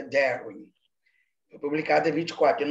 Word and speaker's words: Darwin: Mas como ele não era alemão, ele era inglês, a pronúncia correta é Darwin.